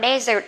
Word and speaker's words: dessert: Rồi với desserts, các bạn nhớ không đọc là dessert nha, có hai chữ s nè, dessert, chữ z cho vào dessert nha các bạn.